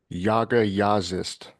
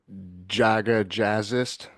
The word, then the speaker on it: Jaga Jazzist: waiting for Martin of uh Yaga yist I believe is how it's pronounced Americans will call them Jaga jazzist um they're from Oslo